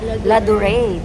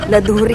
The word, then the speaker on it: Ladurée: At itong laduri na to ay lad ano how how do you pronounce it? Ladure. This is called ladure. Sa aking sa sa ating mga tagaapilipinas pag binasa natin to ay lad laduri kadir ay hindi hindi